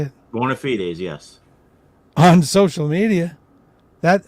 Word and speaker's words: bona fides: Bona fides, yes.